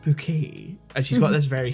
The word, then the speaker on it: Bucket: Mrs bucket she's like no it's pronounced bouquet and she's got this